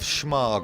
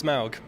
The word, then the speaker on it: Smaug: uh the desolation of schmarg or smorg or smorgas borders uh Adam you went to go see it correct my pronunciation please uh it's Smaug truly potatoes and songs